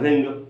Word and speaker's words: wring: यहाँ ध्यान रखना W के साथ जब R आता है तो W का प्रोनाउंसिएशन नहीं होता है, तो WRING क्या हो जाएगा, रिंग, रिंग द क्लॉथ यानी कपड़े निचोड़ दो।